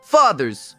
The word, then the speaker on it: fathers: A primeira parte soa como da palavra da nota musical fá. Para a segunda parte, vamos relembrar a pronúncia do th que aprendemos anteriormente, pois é o mesmo som. Vamos colocar a pontinha da língua entre os dentes e deixar o ar sair.